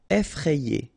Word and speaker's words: effrayé: Okay, remember, double F, so you open the E, so effrayé.